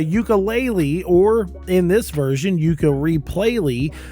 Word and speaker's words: Yooka-Replaylee: I always say it wrong cuz of course the original game was called Ukulele, but this is Yuka Replayley.